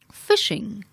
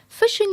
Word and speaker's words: phishing: negative intention of causing harm or stealing data phishing phishing is pronounced like Fi SH ing phishing refers to